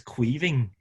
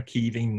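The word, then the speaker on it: Caoimhín: I think it's Queeving. No, I'm not your fella. I've asked someone else for that pronunciation, and it's like Chinese whispers with Queeving, isn't it, or Keeving, that someone says it and then you try and say it.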